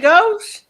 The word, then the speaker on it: Gautier: She said, "Gauche." And I'm like, "Spell that."